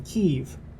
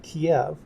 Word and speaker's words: Kyiv: This is how the city is pronounced in Ukrainian.